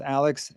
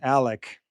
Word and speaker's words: Alec: Not Alex, Alec.